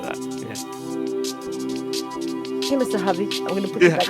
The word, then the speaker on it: Havey: Havey. It's just the word have with the Y on the end. Think of it like that. Yeah. Hey, Mr. Havey.